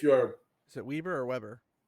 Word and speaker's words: Weber: If you're is it Weber or Weber? I would pronounce that name Weber because I knew someone in real life who pronounced it that way.